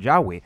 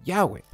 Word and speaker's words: Yahweh: scholars today agree that the original pronunciation of the titagram was something like Yahweh nobody had even pronounced